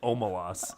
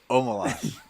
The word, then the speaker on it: Omelas: Am I Call it pronouncing that Omelas. wrong? No, yeah, it's Omelas. Okay, Omelas.